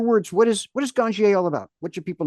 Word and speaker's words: Ganjier: I'm pronouncing that correctly yeah ganier uh unless you're Patrick the soil King and he calls it ganier okay you're the managing